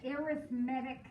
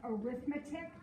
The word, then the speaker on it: arithmetic: are what we call arithmetic sequences the word looks like arithmetic but when we use it as an adjective it's pronounced arithmetic so an arithmetic sequence